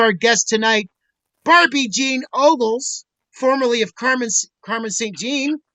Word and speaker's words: Ogles: I'm here with Bob Bell, Big Mike, my co-host, and also our guest tonight, Barbie Jean Ogles, formerly of Carmen St. Jean, and now she's Barbie Jean Ogles or Ogles?